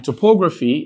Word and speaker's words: topography: You have topography. Now, in topography, you're stressing this particular syllable. Now, let's take that. You have the last syllable, that's PHY, and you have the second to the last syllable, and here is the third to the last syllable, PO.